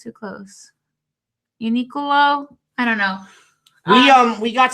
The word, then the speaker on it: UNIQLO: UNIQLO.